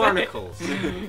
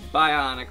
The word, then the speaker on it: Bionicles: say Bionicle shut up I was going to say barnicles it's Bionicles um Bionicles are also making